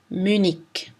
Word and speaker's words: Munich: En position finale, CH se prononce soit ch, soit k. Match, Munich.